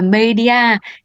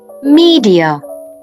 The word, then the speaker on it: media: cùng quen thuộc Trời ơi bạn nào đang đọc là Media thì vui lòng giơ tay và bình luận xuống dưới video giúp mình nhé Thực ra cách đọc chính xác của từ này phải là Media nồi như mọi người cũng nghe đấy mình